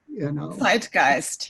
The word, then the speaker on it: Zeitgeist: How do you pronounce that? Zeitgeist.